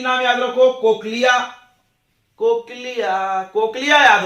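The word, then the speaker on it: cochlea: उसके बाद इनर में ओवल विंडो, कोक्लिया, इसको क्या पढ़ते हैं बच्चों, कोक्लिया, ऐसे लिख दिया जाओ, कोक्लिया।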